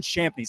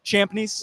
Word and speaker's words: Champneys: behind the scenes, Champneys. Am I pronouncing that well? Yep. Champneys? Yes, sir.